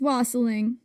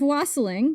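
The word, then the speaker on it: wassailing: Anyway, according to an article on learn religions by Patty Wigington, quote, the tradition of wasling pronounced to rhyme with fossiling.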